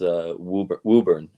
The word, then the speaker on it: Woburn: It's Woburn. Woburn. So for everyone who's curious, it is not spelled with 2 O's or WHO.